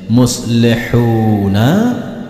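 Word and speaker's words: مُصْلِحُونَ: Muslihun. Hati-hati tulisannya muslihuna, tetapi cara membacanya muslihun.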